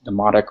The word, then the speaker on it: Demotic: They were actually letters that were transformed from the hieroglyphic writing eventually into what's called demotic writing, which is the next stage. Demotic, not demonic, but demotic with a T.